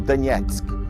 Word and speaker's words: Donetsk: Nessa região, a cidade mais importante é Donetsk, ou Donetsk, como eles pronunciam, que é uma cidade